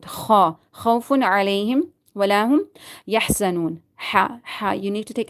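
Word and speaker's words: يَحْزَنُونَ: Yahza. Za. You need to read it strictly. Za. Yahzanun. Noon. Waw is silent and before that there is zama. You need to stretch it according to one alif.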